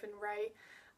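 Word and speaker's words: Rae: So yeah, yeah, because we've probably said, but it's Amelia -Ray. Ray is spelled R-A-E, and we're taking to calling her Millie Ray.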